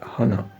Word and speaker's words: honor: come before the word honor, we cannot say a honor. We rather say an honor. An honor. Why do we say an honor? Because that first letter H is silent in the pronunciation.